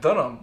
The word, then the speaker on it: Dunham: last name i know it's dunham not when you look at it it says don't ham just on her ah